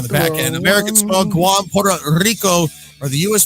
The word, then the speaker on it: Guam: Guam with a soft G.